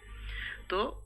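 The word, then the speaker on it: ت: এভাবে বলতে হবে এটা তা জিহ্বার আগাটা সামনের উপরে দুই দাঁতের গোড়ার সাথে লাগাতে হবে তা সামনের উপরে তো অনেক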